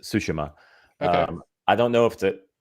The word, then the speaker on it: Tsushima: It's Tsushima. Tsushima. Yeah, the T is silent, so it's just Tsushima.